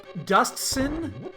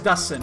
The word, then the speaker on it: Dustin: Is it Dustsin? Is that how you actually pronounce it, with a hard T? I need to know. I gotta know this, because I think I've been mispronouncing it forever. It is Dustin.